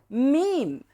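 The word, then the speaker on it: ميم: You pronounce Meem by bringing your lips together. Meem. So the makhraj is the lips. You cannot pronounce Meem without your lips touching.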